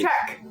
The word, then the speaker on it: Czech: e czechoslovakia yes yes also the czech republic is check this is what they